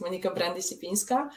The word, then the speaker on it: Monika Brandic-Lipinska: you so much for having me uh you pronounced my name correctly it's Monica brandyshipinska uh I'm a PhD student at Newcastle University